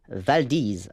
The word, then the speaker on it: Valdez: cru insiste sur le fait qu'il faut le prononcer je cite valdise afin que la dernière syllabe rime avec disease